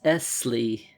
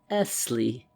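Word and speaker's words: Essley: name he said is Esley he pronounced the word lingering upon the double s till it sounded like a long hiss Esley he repeated as though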